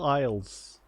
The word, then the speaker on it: isles: how do you spell isles oh the the s is silent turned out holy [